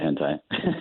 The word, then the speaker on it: hentai: Am I saying it right? Hentai? Yeah, hentai. That's funny.